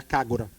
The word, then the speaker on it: KAGRA: ser o kora né que se escreve kagra né mas é o u parece que é muito pouco dito em Jap esse U é muito pouco dito no Japão mas é seria kagura né esse tá sendo construído